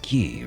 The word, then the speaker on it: ki: here here's the thing key k i key c h i and key q i are all key just because it's spelled differently doesn't make it a different thing releases the mind's